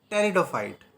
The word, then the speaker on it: pteridophyte: peridophytes or teretophyta okay the p is silent here so it is that is it is teridophyte okay it is the